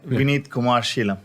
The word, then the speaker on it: Vineeth Kumar Shalam: And would you please correct my pronunciation? So you're pretty good on that. It was all right. Well, what's correct? It was all right. Vineet Kumar Sheelam.